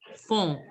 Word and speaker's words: fond: Fond. Fond. Elephant. Yes. Devi, can you pronounce éléphant? Elephant. Fond. Phone. Phone. N is not to be pronounced nasal sound. They should be elephone. Elephant.